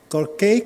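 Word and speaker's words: Corcaigh: How do you pronounce Cork in Irish? Corkay, Corkay, yeah, good, good.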